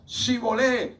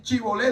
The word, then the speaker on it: shibolé: lo exterminemos, es que el término shibolé lo pronuncia equivocadamente, y todo el que quería pasar el vado del Jordán separaba a la tribu de Judá y le decía, dígame Shibolé, y cuando él iba así Chibolé, decía era Shibolé, decía